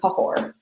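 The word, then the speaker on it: Cahors: Um it most notably cahor. I think everybody who shopped with us got this wine. So everybody should have the chat deo. Um cahore that is how you say that word.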